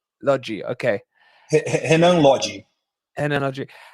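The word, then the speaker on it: Lodi: player uh Ren and Lottie or is it pronounced Lottie or Logie how what's the correct pronunciation it's lodgy lodgy okay and energy how how did the Brazilians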